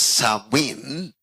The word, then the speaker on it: Samhain: Pronounced as Samhain.